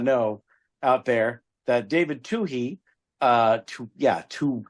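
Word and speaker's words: Twohy: people might not know out there that David Tuhi uh Yeah, Tu Tui, that's how you pronounce it. Tui, he is so prolific because I thought he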